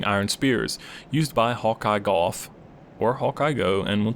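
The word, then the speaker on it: Gough: night hawkey is uh golf but the original Japanese uh pronunciation is go it's his name does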